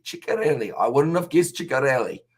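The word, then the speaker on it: Ceccarelli: I'll help out with the forwards' names, pronunciation Amish. It's Fischetti, Lukeshi, and Ciccarelli. Ciccarelli.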